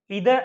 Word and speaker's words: either: Short session के अंदर हम क्या डिस्कस करेंगे कि जो आइदर नाइदर हैं, ओके, इनको वी कैन से द pronunciation of this ईदर एंड नीदर, आइदर एंड नाइदर both are same, so don't be confuse.